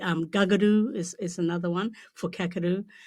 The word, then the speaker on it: Kakadu: C is also pronounced like a G. Gagadoo is another one for kakadu.